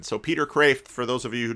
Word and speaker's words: Kreeft: Peter Kreeft said someone some of those who know Dutch say you ought to at least say it like a Dutchman so Peter craved for those of you